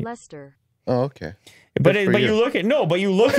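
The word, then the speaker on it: Leicester: want to see you try lychester that's lester is it lester i think so okay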